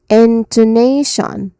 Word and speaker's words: intonation: a bit louder and then there is t i o n what does t i o n sounds it sounds like shun okay t i o nan so this is inonation.